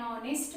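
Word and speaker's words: honest: Now third point is before mute H. यानी एच जब first letter हो और साइलेंट हो तब हम उसके लिए भी एन ही यूज करते हैं। एन आर, एन ऑनेस्ट मैन, N honourable guest.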